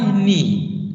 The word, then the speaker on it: knee: sentences first one my knee look here we don't pronounce the letter k at the beginning of words when you have n that follow k okay my knee what is the meaning